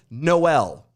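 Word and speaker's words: Jkmn: have a writing down the name is spelled j k m n the name is enunciated noel because just like in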